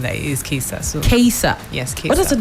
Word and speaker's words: Kaesa: It's Kaesa. Kaesa. It's like case and Kaesa. Yes. Not Kaisa.